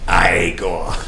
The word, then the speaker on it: Igor: gum Frankenstein and then igor's like no sense pronounced I a Gore Young Frankenstein Peter Boyle